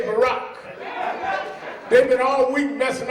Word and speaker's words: Barack: When Obama was running, we couldn't even pronounce his name. Call him Baruch and Baraki and all of that. Took 6 months to say Barack.